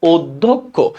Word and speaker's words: অধ্যক্ষ: আবারও দুইটা অ হয়েছে, তাহলে যদি দুইটা হয়, একটা কি হবে, সংবিত হবে। তার মানে অধ্যক্ষ।